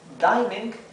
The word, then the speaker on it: dining: si dining room bien Recuerden que esto se pronuncia dining porque tenemos una sola n verdad Cuando tenemos una vocal luego tenemos una consonante sola y luego tenemos otra vocal la primera vocal adquiere su Sonido La en el caso